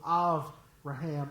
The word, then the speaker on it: Avraham: Man, I can't wait to get to heaven and talk to Abraham, or in the Hebrew, Avraham, Av with a V, not with a B.